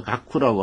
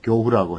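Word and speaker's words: 覺後: 여기 이제 깨달을 각자인데요. 꿈의 반대말은 교라고 발음을 합니다. 그래서 각후라고 하면 틀리고요. 교후라고 해야 되죠.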